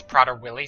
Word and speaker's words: Prader-Willi: If I was told my son, if I had a child and I was told my child has Prader-Willi syndrome, That's how you pronounce it.